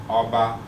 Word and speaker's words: Oba: So Oba is normally mid-tone, Oba. But what makes it go to high tone, as it was so beautifully pronounced by Dr.